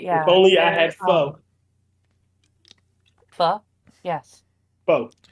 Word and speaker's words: pho: But yeah, If only I had pho. Pho? Yes. Pho. It's pronounced pho, you fucking idiot.